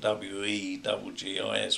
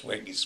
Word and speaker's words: Weggis: I think it's spelled W-E-G-G-I-S, Weggis, Weggis.